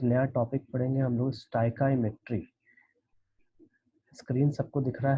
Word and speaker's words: stoichiometry: देखिए स्टाइकाईमेट्री, इसका जो प्रोनाउंसिएशन है दैट इज, ये अगर आप पढ़ने जाओ तो स्टोइचियोमेट्री लगता है, लेकिन इसका प्रोनाउंसिएशन है स्टाइकाईमेट्री। STOI, इसको स्टाई पढ़ेंगे। CHIO, इसको काई पढ़ेंगे, और ये हमारा मेट्री है।